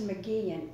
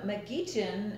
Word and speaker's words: McGeachin: Prince I mean but even my own husband mispronounced our name when we got married remember that mom rule is that I Jim McKean and half the church to start laughing because